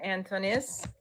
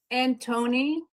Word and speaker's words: Antonis: Anton. Yeah, it's like a T or a D sound in the Greek language. The S is silent at the very end in the Greek language, too.